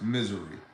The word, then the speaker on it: Missouri: In the state of Missouri, properly pronounced Missouri, in the state of